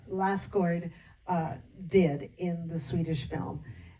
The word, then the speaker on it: Lassgård: Lassgård did in the Swedish film.